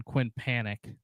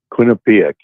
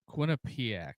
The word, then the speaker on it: Quinnipiac: But, uh, the Johnny's are up 60 to nothing on Quinn Panic. Quinnipic. Yeah. Or I think I pronounced it right, but Quinn Panic. Yeah. No. Quinnipic. Quinnipiac.